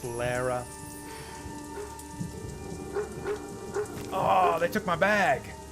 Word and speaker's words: Lara: got the debut of emo Laura Lara it's officially pronounced Lara oh they took my